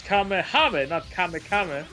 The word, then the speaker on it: Kamehameha: had one job you had one job for pronunciation and you ruined it like like goat things you suck it's kamehameha oh yeah yeah kid it's